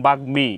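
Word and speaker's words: বাগ্মী: আমাদেরকে এইভাবে লিখতে হবে আর যখন আমরা উচ্চারণ করব তখন বাগমি এইভাবে উচ্চারণ করতে হবে এটা হলো উচ্চারণ রীতি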